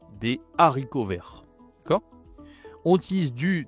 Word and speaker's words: haricots: Attention, on ne dit pas des haricots verts parce que il y a un H qu'on ne doit pas prononcer ici. Des haricots verts.